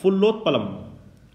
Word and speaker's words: फुल्लोत्पलम: पहला है फुल्लोत्पलम। फुल्लोत्पलम, इस पे 2 शब्द है, फुल्ल उत्पलम, संधि है, फुल्लोत्पलम।